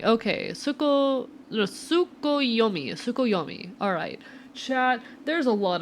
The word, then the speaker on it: Tsukuyomi: Oh god, I am not gonna fucking pronounce this right. Tsukuyomi, and placed inside the moon cave. The villagers all looked forward to an age of endless peace. I think you got it, I hope so. Tsukuyomi.